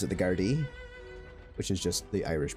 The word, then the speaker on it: Gardaí: The way they spell guards looks like it's the Gardaí, which actually is the way they pronounce in Ireland. It's G-A R-D-A. It looks like Garda, but you actually pronounce it the Gardaí, which is just the Irish police.